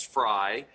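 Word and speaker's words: Frei: a book and that's dr francis frye or frey is how you pronounce it the great harvard professor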